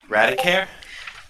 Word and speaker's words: Radicare: His name was Radicare. Radicare. Okay. Okay, I'll type it in chat. So that he doesn't end up being Raticat from Pokemon. You can figure out how to pronounce that.